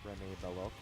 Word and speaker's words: Rene Belloc: Paul Freeman, for his famed role of Rene Belloc, I believe it's pronounced Rene Belloc, from Indiana Jones, Raider of the Lost Ark, was picked to play that role.